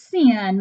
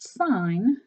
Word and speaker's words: sine: want to call this sin make sure that you don't make the mistake it's actually pronounced sign okay so the Sun